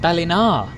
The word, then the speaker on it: Ballina: to berlin have you except here it's pronounced balinar oh okay this is